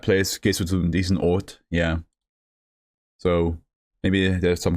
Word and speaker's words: Oort: Ort. Sounds like Ort in German, which just means place. You going to that place, gehst du zu diesem Ort, yeah.